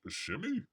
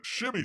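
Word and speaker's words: Shmi: His mother, Shimmy? Is that how you pronounce it?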